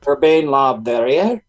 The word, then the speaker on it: Urbain Le Verrier: You can probably pronounce that better than I can, Taino, since you speak French. Yeah, so you said it right, Urbain. Yeah, Le Verrier, that's right. Urbain Le Verrier? Exactly. Le Verrier?